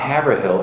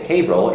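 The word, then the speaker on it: Haverhill: in New England um it's spelled the same way havil as Hill is spelled here and my whole life living in hail I had to tell people no it's not havill it's ail even though it looks like every here I moved here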